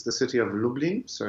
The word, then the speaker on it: Lublin: it's the city of lublin so it's like dublin but with an l now lublin has a